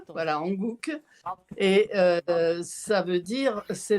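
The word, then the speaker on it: Hanguk: était là hier pardon j'ai pas retenu ça s'écrit ha N G u Hankook et ça veut dire c'est le nom de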